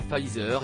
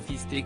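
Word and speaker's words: Pfizer: du vaccin en effet celui ci est nommée fah isr et non fister comme a pu l'indiquer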